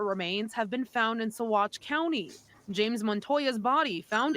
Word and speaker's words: Saguache: The details about what happened to Edna are still fuzzy, but it's in her search that other remains have been found in Saguache County.